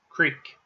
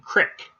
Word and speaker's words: creek: c-r-e-e-k creek and um creek has a couple of pronunciations that will often depend on where you reside in the country so interpreters and translators depending on where you're at you're going to hear the local pronunciation i'm sure if you ever are talking about what a creek actually means and you'll understand um the difference between creek not the difference it's just a pronunciation issue between creek and crick so uh some people